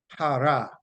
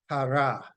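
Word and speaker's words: חרה: And the word from which we get anger coming, it is transliterated to C-H-A-R-A-H, and that is pronounced hara, hara, hara.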